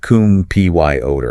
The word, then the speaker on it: computer: So the entire mechanical sequence is cum P-Y-O-ter.